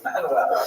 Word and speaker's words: Manuel: But luckily for today, the only Portuguese king we're going to talk about is Manuel, which is pronounced Frank. No, Manuel.